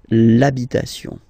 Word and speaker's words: l'habitation: for the masculine part, even if you've got this H, then the first sound you hear is A, okay, so for the